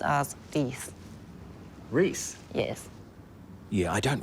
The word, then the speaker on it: Rhys: Pronounced as Rhys.